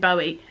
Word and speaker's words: Bowie: to say his name I say David Bowie but apparently it's David Bowie anyway and the man